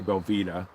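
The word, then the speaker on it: Belvita: to pronounce it but I always say Belita like Vita but yeah those are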